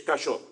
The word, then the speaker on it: cayó: le enseña no esto Esto no es cayo esto es un es cayó esto usted le hace la diferencia all en el acento para que empiece a